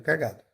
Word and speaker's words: cagado: Eu falo cagado, cagado, cagado. Então, o G é a sílaba mais forte.